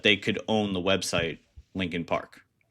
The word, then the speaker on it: Linkin Park: Um, so that they could own the website Lincoln Park, right? So that's why they their name is not spelled, you know, how Lincoln should be spelled pronounced.